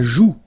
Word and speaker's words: joue: La joue. La joue. Final E not pronounced here.